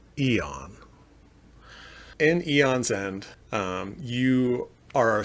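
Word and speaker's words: Aeon's End: And that is pronounced Eon.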